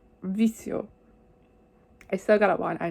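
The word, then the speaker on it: Vicio: appreciated yeah and the next song i believe is pronounced vikio if i remember anything from my spanish clashes but i doubt it okay so i completely butchered that i'm sorry but it's vizio i still got one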